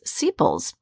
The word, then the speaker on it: sepals: Those pieces of that covering are known as sepals. Yeah, rhymes with steeples, right?